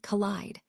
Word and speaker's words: collide: Now, contrast that with the long I sound, which appears in the word collide. This one is stretched out a bit more, giving it a more drawn-out feel.